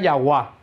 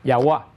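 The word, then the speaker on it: Yahweh: Dios para siempre entonces algunos estudiosos pensaron que el nombre de Dios se podía pronunciar yahua que es posible que sonara yahua de yahua viene Qué cosa yah y de una corrupción de yahua viene Jehová que no tiene menos que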